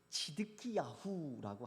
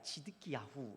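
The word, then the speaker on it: צִדְקִיָּהוּ: 이 치드키야후라고 하는데요, 원래 이제 히브리어 발음으로 하면 시드기야가 치드키야후 이렇게 됩니다.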